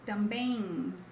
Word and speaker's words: também: Like também, and here we have tem. So tem, has. Também, also. Oh, that's why I said about transcription. So it's not bang, it's bem in, but faster.